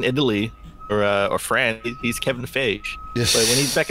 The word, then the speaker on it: Feige: It's Kevin Feige. I think it's Feige. Yeah. Feige. So I said Phage. Well, you know what? Whenever he goes into whenever he's in Italy or France, he's Kevin Feige.